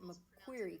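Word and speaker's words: McCreary: preschool uh down in mcer County which I think they most of the locals pronounce it mcquery County which I think at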